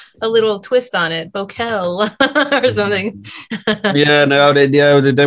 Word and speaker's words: Bokel: Oh, it's Bokel. Just Bokel. Yeah. Not Bokel or anything like that.